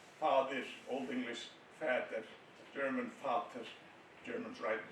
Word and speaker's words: Vater: The same for the father word, Icelandic father, Old English fader, German vater, Germans write B but pronounce it an F.